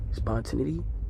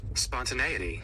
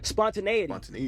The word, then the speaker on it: spontaneity: Spontinity. Spawn. Spont. Often times when I don't know what a word is pronounced, I want to I get to look